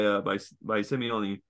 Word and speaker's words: Simeone: I was laughing at the red card by Simeone.